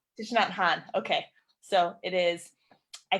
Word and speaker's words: Thich Nhat Hanh: Thich Nhat Hanh. Thich Nhat Hanh.